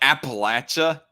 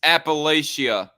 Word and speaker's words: Appalachia: need their government to did he just pronounce Appalachia like Appalachia cringe who the heck pronounces it that way he's like the first person for me to ever hear uh pronounce it that like that it's Appalachia anyway the nitpicks aside do